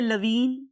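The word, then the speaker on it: Levene: बहुत से लोग इसे लवीन और बहुत से लोग इसे लेवीन बोलते हैं, whatever you want to say.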